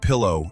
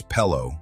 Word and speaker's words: pillow: I pronounced pillow as pello for a really long time. Some coworkers gave me shoot when they figured it out, and I try to say it correctly, but my brain will often short-circuit and go back to pello.